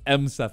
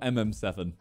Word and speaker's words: M7: our roast videos but it's M7 it's not mm7 it's m7e for the